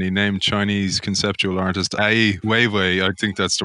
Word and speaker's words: Ai Weiwei: I loved his answer when you asked him who inspired him, and he named Chinese conceptual artist Ai Weiwei. I think that's the right pronunciation.